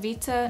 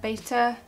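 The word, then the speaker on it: βήτα: that B is feta I know it's actually pronounced Vita not beta then there's a gamma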